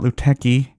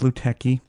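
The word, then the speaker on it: Lutèce: loot tests yeah and I invariably got Luke techie yeah because it's how it's spelled I mean LUT ECE I don't know how people go that way but it's Luke techie this is the one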